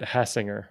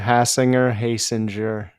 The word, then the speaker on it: Hasinger: You always used to get Hassinger, right? That was like your big Yeah, Hasinger, Hasinger. has a singer. Has a I'm like passenger, same thing, but with an H.